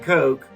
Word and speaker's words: Koch: Brought to you by Coke and Coke, the Koch brothers. I thought they pronounced their name with an ah sound, not an oh sound.